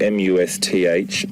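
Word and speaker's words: musth: And that's spelled M-U-S-T-H, must.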